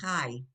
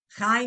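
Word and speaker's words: חי: Now, you have to hear the chai. You have to hear the yeh on this. This is one of those words. Chai. Oh. Chai means life, and you hear that yud kind of sound chai.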